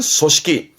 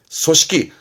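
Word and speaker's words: 組織: 조직 발음은 소식기. 소식기.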